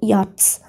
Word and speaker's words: yachts: Yachts means it's a kind of small boat, okay, sailing boat, which is mainly used for racing, yachts. Y-A-C-H-T-S. See, here C-H is not pronounced.